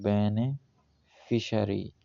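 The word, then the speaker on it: beneficiary: करते हैं बेनेफिशरी बेनिफिसरी इसका प्रोनाउंस है बेनेफिशरी बेनेफिशरी अ पर्सन और ऑर्गेनाइजेशन दैट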